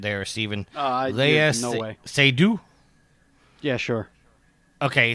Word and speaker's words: Seydoux: You're going to have to help me with pronunciation there, Steven. No way. Seydoux?